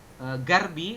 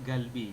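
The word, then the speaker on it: 갈비: Dibacanya bukan garbi, tapi galbi.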